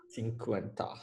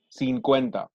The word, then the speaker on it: cincuenta: Cincuenta. Yeah. N is silent. 50. The N is actually there. It's not silent.